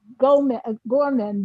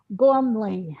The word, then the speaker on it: Gormley: Um, there was another name um the clerk gave me and Okay, I heard Gorman, but it's Gormley.